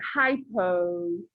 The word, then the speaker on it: hypo: hypo is the opposite hypo rhymes with low all right so hypo